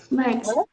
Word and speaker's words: birds: Esse i, gente, aqui nessa palavra, ele já tem um som estranho, tem um som de o. Quer dizer, de a, né? Não é nem o, é a.